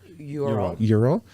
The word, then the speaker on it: Ural: Did I pronounce that right? Ural? Ural.